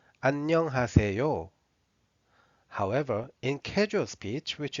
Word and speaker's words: 안녕하세요: When you read it very carefully, it should be like 안녕하세요. 안녕하세요.